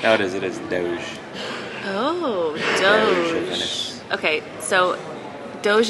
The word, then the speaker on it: Doge: saying it right no it is it is Doge oh Doge okay so doge is actually just